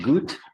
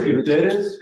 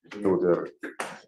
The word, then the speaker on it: Gutierrez: No, Is it Gut? he said it's Gutierrez, but yeah, it's spelled that way. We'll find out right now. What is your name, sir? Gutierrez.